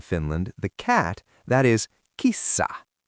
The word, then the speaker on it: kissa: Now, a very popular animal in Finland, the cat, that is kissa. Double that S.